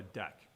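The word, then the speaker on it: deque: package the Java interface deck and this is pronounced deck right d-e-q-u-e it's a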